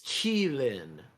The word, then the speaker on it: Qilin: It's Qilin. That's how it's pronounced. Yeah, I was gonna say, if it Qilin. was Chinese, it would be Chi.